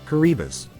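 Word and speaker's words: Kiribati: answered yes did you know that it is pronounced caribas these atols in the Pacific are so remote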